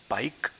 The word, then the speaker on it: Paik: Next is Paik, very similar to the pike men. The pike pronunciation in the pike men, just you just have to extend the pike, the I, into an I. Pike.